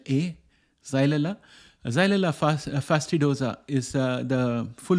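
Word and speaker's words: Xylella: and the bacteria which is called xyleda that is spelled as x y l e l l a zailella fastidosa is the full name of the bacteria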